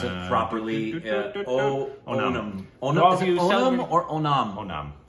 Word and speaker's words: Onam: I want to make sure I know the No, I want to pronounce it properly. Onam.